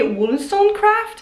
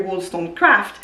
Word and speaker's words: Wollstonecraft: And the one book that I bought over there is The Vindications by Mary Wollstonecraft. For whatever reason, I'm really struggling pronouncing that name, Wollstonecraft.